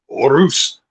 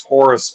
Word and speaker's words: Horus: In Spanish it's Orus, but here it is Horus.